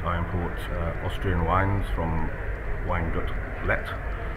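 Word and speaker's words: Weingut Leth: I'm from Dudley de Fleury Wines, and I import Austrian wines from Weingut-Lett. It's L-E-T-H, not pronounced H.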